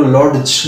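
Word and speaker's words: lodge: তো এরকম আর একটা শব্দ আছে লজ, LODG, লজ, আমরা কিন্তু ডি সাইলেন্ট রাখি, তোমরা নর্মালি কখনো লজ বলো না, লজ বলো।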